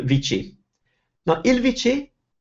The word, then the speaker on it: WC: And it's in Italian, it's pronounced il vici.